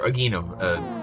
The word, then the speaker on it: Aghanim: Or Aghanim, because apparently it's pronounced Aghanim. I thought it was Aghanim this whole time. It's Aghanim.